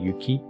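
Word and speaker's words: 行き: bound for, like Timba Yuki. The pronunciation changes from iki to yuki.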